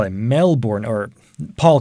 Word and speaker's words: Melbourne: But, and this is a huge but, because a lot of Australians insist that it's always pronounced Melbourne, but it can be officially also pronounced Melbourne, if you're an American speaker, or if you're a Canadian speaker, and obviously I'm using